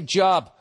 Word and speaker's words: Job: I said it right. I didn't say Job.